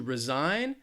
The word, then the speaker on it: resign: we have resign to resign and to re-sign again one difference between these would be the the syllable stress so resign the stresses on that second syllable resign which means to